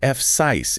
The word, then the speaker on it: Fsiis: It literally says, if the word is too hard, just say F-sis, it is fine.